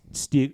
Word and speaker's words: Stieg: you knew about uh Stig Stig Larson and his work. And yes, I I checked the pronunciation. It's Stig, like the master marauder in that British television program about middle-aged men explaining